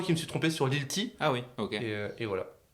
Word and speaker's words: Lilti: Et par contre, depuis tout à l'heure, on dit Little, mais en fait, je me suis C'est trompé. Lilti, hein. Ouais. C'est Lilti. Ah, voilà. Lil T. Lilti.